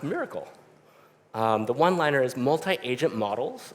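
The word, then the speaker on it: MRKL: of today's agents is uh Mr KL systems pronounced miracle the one-liner is multi-agent models some with reasoning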